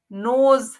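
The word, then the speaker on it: knows: चढ़ता हुआ लगता है नोज जानना आपको पता है कि इसमें के जो है वह साइलेंट होता है यानी उसकी साउंड नहीं होती लेकिन स्पेलिंग में के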